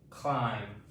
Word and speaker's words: climb: We're saying the k l quickly together, cl. So, it's like a cl sound. Cl i mm. No sound for this letter, no dot for this letter.